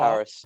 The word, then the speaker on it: PVRIS: That's it, But Paris. it's PVRIS, spelled PVRIS.